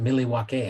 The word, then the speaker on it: Milwaukee: how's it going nice Milly wakay remember that from Wayne's World it's pronounced miliwaki I believe that was Alice